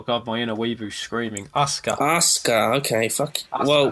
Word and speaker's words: Asuka: Asuka, okay, fuck. Asuka. Well, the SU's not pronounced because Japan.